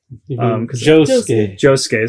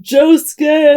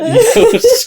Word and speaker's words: Josuke: And Josuke's not Swedish, so it's not Yosuke.